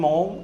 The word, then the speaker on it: Maugham: വളരെ famous writer ഇംഗ്ലണ്ടിൽ, English ഭാഷയിൽ സോമർസെറ്റ് മോം എന്നാണ് അദ്ദേഹത്തിൻ്റെ പേര്. പക്ഷേ ഉച്ചാരണത്തിൽ സോമർസെറ്റ് SOMERSET MAUGHAM മൗഗാം എന്ന് എഴുതണം. സോമർസെറ്റ് മൗഗാം എന്ന് എഴുതണം. വായിക്കുമ്പോൾ മോം എന്നേ ഉള്ളൂ.